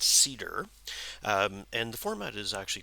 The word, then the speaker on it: CIDR: can read about CIDR it's pronounced cedar and the format is